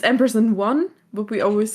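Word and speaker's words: AMPERS&ONE: Like the same with Ampersand On. Ampersand On, yeah. Yeah, it's Ampersand 1, but we always say Ampersand On.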